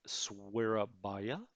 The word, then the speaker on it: Surabaya: Because this air squadron, we can always transfer back to Surabaya, as we learned it's pronounced.